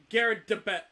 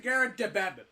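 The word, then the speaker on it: Garrideb: Garrett DeBet. You've been saying Garrett DeBeb. So you've been acknowledging there's a D in there. You just keep putting a second B.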